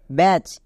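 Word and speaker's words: batch: পরে সি এইচ আছে টি এর পরে সি এইচ থাকলে তখন টি সাইলেন্ট থাকে তাহলে মনে থাকবে রিডিং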